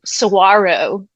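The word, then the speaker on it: Saguaro: So, yeah, we were literally in the middle of the I guess I'm saying it wrong. Sarro, the key is silent.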